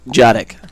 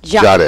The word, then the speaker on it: Jadek: Jadek. Jadek. It starts with a D, and it's Jadek.